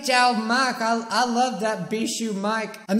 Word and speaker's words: Bijuu: let's just be honest no one knows how to say my name a lot of people say beasts you is that beat gel mark I love that be shoe Mike I'm not gonna